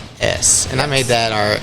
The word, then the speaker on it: Ouachitas: So dude, maybe I should say the Ouachitas. It's Ouachitas, and I made that our email handle, and I still regret it sometimes.